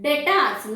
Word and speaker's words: debtors: So, here also, be silent. I call it as debtors, not debtors. Got it? I call it as debtors, not debtors. Clear? So, this is debtors. So, now you understood how to pronounce.